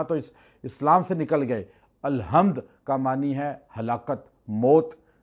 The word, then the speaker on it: الحمد: لیے۔ آپ کہتے ہیں الحمد، اکثر لوگ تلفظ ادا نہیں کرتے، ہا نہیں کہتے، ہے کہہ دیتے ہیں الحمدللہ، اس کا معنی چینج